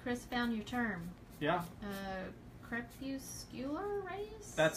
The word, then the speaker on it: crepuscular: Crepuscular rays? That sounds like it. I knew it kind of had that hard C in the beginning.